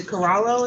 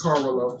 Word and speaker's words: Carvalho: Okay, this is City of Lansing versus the Corallo, is that how you say it? It's Carvalho.